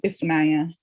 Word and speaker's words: Ifunanya: And my name Ifunanya is the NY is one letter in Igbo.